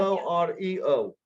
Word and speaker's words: Oreo: O-R-E-O. O-R-E. Oh, because this is the way you pronounce it, Oreo.